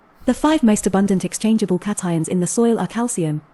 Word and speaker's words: cation: the soil water those cations will force other cations off the colloid and take their place the